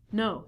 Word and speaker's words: know: We reduce this to no. So not only the beginning letter K is silent, but the W is also silent.